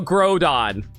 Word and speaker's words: Groudon: G-R-O, grow, you, so grow, so Groudon. I think I was pretty on point with that name, don't you think? And Kyogre. Like, I always pronounce that as Kyogre. Thank you for not saying you called it Gordon. Yeah, it's like grow as in through.